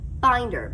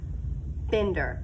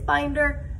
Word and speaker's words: Binder: my name and binder mrs binder not bender a lot of people say mrs bender and i have to go oh nope it's binder and they go oh